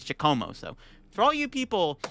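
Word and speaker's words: Giacomo: lot of people were I kept calling it jayakumo it's it's chacomo so for all you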